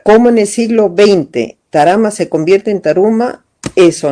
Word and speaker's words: Tarama: es cómo Tarma o Tarama, la palabra Tarama se deriva de la forma como se pronuncia en el quechua local de centro andino. Y entonces ellos no dicen Tarma, sino decían Tarama.